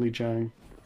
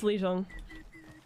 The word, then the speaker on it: Lijiang: Am I pronouncing that right, Legion? Or is it Lijiang? It's Legion. Okay, I was right.